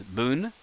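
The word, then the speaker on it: ぶ: if ha becomes ba then foo becomes actually this is easy boo as in booboo so let me uh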